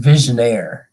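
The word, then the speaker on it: Vigenère: And it's pronounced visionaire.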